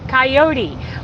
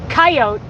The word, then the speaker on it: coyote: way that is why everybody pronounces that word coyote when it's really pronounced coyote if you speak English